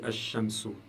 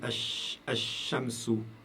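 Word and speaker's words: الشمس: Par contre, j'ai écrit ici quand je prononce, je dis Ash-Shamsu. Ash-Shamsu. Je prononce plus le lam.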